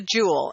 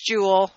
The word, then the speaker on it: joule: of energy which is the Joule and this is spelled jou le this is for James Joule the person that this is named for its not Joule like emeralds and rubies and diamonds and sapphires not that kind of jewel and it